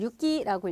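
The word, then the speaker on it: 行き: 자 그다음 여러분 요거 행자를 써서 우리가 요걸 유기라고 읽어요 그래서 우리가 이런 말 하잖아요 뭐 오사카행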